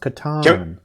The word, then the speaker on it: Catan: how do you pronounce it he said it's pronounced katan okay i was i was gonna guess that's